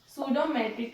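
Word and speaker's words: pseudometric: सूडोमेट्रिक, इसमें जो हमारा पी होता है ये क्या होता है, साइलेंट होता है, इसको आप नहीं प्रोनाउंस करेंगे।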